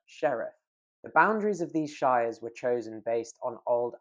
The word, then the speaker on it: shire: We pronounce it shire when it's the suffix, for example, Wiltshire, but shire if we're referring to it on its own, like the Shire from The Hobbit.